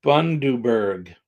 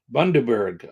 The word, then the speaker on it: Bundaberg: Pronounced Bundaberg. Bundaberg. Okay, got it. Bundaberg.